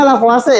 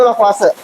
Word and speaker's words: Lavoisier: Yang pertama itu ada hukum kekekalan massa atau disebut juga dengan hukum lavoase itu dibacanya lavoase ya walaupun tulisannya lavoisier tapi dibacanya di kita itu lawase.